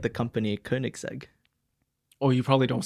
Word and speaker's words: Koenigsegg: example like the company Koenigsegg or you probably don't say it like that do you how do you pronounce how are you supposed to pronounce it yeah Koenigsegg okay yeah but there's